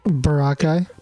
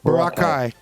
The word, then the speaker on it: Boracay: Boracay. Boracay.